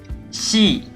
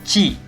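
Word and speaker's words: し: Se pronuncia shi. Shi. No chi, porque chi es otro sonido, sino shi.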